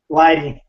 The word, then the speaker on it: Lighty: you guys correct me is it ly or Lighty Lighty Lighty Stevenson Lighty they've Wrestled